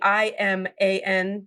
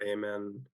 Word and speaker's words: Iman: So then, I think the way it's pronounced in Arab cultures depends on what country you're from, but it's either Iman or Amen or or something like that.